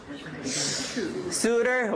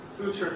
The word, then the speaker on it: suture: Now I'm really happy that you said suitor, because he's actually applying the rule that we learned in class. T becomes T between two vowels to become suitor, but you should have looked it up in the dictionary.